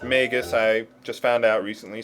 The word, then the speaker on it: Magus: By the way, his name is pronounced Magus. I just found out recently. Someone gave me a pretty good explanation as to why. So, I always thought Magus was pronounced ma ma magis, like magi.